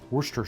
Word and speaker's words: Worcestershire: If you were to pronounce Worcestershire sauce phonetically, it would have a lot of syllables. And a lot of people in the UK call it Worcester sauce. And some people put the Worcestershire, but regardless, it's got